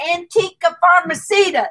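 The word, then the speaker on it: Antica Farmacista: The Antica Farmacita is how they told us.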